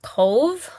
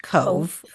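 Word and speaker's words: Cobh: It's spelled C O B H, but it's actually pronounced Cove. Okay. C O B H, but pronounced Cove.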